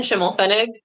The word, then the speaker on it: Schimelpfenig: projects so I'm shim fenig uh the p is silent um you can find